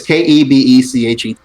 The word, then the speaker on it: Kebechet: Yeah, I'm presuming that's how it's pronounced. It's Kebechet.